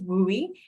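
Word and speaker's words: WUE: can be long words so we always refer to it as we um and so pronounce very differently than it is spelled But ultimately what it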